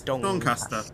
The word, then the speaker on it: Doncaster: No, yeah, it's Doncaster.